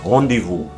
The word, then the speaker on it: rendezvous: And so we finally come to the letter Z. There will surely be attempts to blame the French, and yet the following have been fully established words of the English language for centuries now: chez, laissez-faire, and rendezvous.